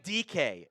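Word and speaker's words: Dike: So Chimere DK is the pick out of Florida. It is pronounced DK. It's not the other words that you could maybe potentially interpret that as.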